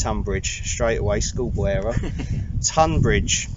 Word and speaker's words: Tonbridge: It's Tonbridge, straight away, schoolboy error. Tonbridge. Tonbridge. Spelt Tonbridge. Spelt Tonbridge, but pronounced Tonbridge.